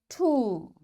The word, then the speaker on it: tomb: That's why this B is coming after M, this B will be silent. We will say comb, tomb, bomb, thumb, climb, and lamb. In all these words, you can see B is silent. Why? Because before B, there is M. So this M is making this B silent, and we don't pronounce it.